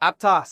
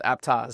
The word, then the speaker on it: Aptos: So, it's actually based on a small town. The name is Apttoas about an hour south of the Bay Area. And that's the way they pronounce it. So, I think that's uh that's what we go with.